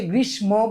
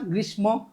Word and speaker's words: গ্রীষ্ম: এটা অনেকে আমরা রশ্মি উচ্চারণ করি, রশ্মি না, রশ্মি। হ্যাঁ, ওই যে অনেকে গ্রীষ্ম বলি না, গ্রীষ্ম না, এটা কিন্তু আসলে গ্রীষ্ম। এটা মানে এই শটা ডাবল উচ্চারণ হবে, ঠিক আছে, রশ্মি।